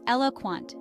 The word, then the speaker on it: eloquent: their speech or writing the pronunciation is Elo Quant with the stress on the first syllable think of renowned speakers